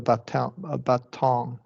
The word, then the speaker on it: baton: Because the swung the baton. Yeah. The second syllable is stressed. Now, when we cover the glottal T, yeah, we'll It's not stressed. Yeah. It's not stressed, correct.